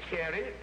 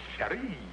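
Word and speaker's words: chérie: You've got the wrong accent on there. In the French language, that ain't cherie. That's cherie. Cherie. Yeah, and in the French language, the one where you don't accent the first syllable, you're sprayed it.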